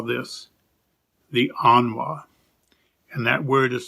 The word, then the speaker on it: anwa: that the spirit imparts we call this the anwa and that word is spelled a n w a anwa and mario continues if we see a